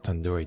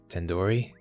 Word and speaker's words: tandoori: you at least recognize tandoori chicken you're saying it wrong wait really 10 tandoori Oh and URI do isn't like Endor it's like doodoo head are you five years